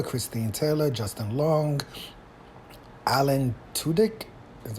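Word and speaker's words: Tudyk: remember Ben Stiller Christine Taylor Justin Long Alan tudik is how you pronounce it Chris Williams Gary Cole Jason Bateman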